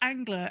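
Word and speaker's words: Angleur: But yes, it's spelt Angler, A-N-G-L-E-U-R.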